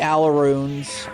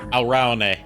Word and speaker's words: Alraune: Oh, yeah, the Alarunes. Alraune is how you pronounce it. It's a German word.